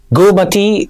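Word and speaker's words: Goormaghtigh: mentioned this name already, GOOR MAGH TIGH cell, Gomati cell. Yes, we very often we tend to pronounce each letter in the word, but that's not how most of the words are pronounced.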